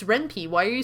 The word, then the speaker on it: Ren'Py: This is made in Ren'Py, or I'm sorry. I think it's technically supposed to be pronounced Ren'Py because the programming language that it uses is Python.